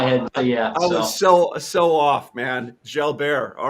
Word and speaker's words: Jalbert: your name is it delbert it's fine i i take all pronunciations i say shall bear you know it's french canadian but i think albert